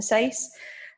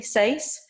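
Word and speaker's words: dieciséis: me also notice that the number 6 seis has no accent the number 16 the FE says we have an accent on the seis that is purely because of weirdest a says and that words DFT seis and it's telling us where to put the stress for the word so her Misha dat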